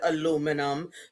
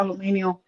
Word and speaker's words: aluminium: want to hear you say the word aluminum to see how you say it, because this extra We seriously I, going back and forth about aluminium. yeah, because he's saying we say it wrong. That's the English way. I mean, I don't know, the US way, I guess, American version.